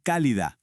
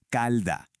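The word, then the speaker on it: calida: El escritor insistía, se dice cálida con la i, pero la gente en la calle ya no la pronunciaba, simplemente decían calda.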